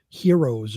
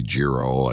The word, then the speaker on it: gyro: what they're called either they're called like heroes or something like that not Heroes isn't the sandwich but I I don't understand how it's pronounced hero but we call it Gyros here in here in New York yeah we just say jro I guess we try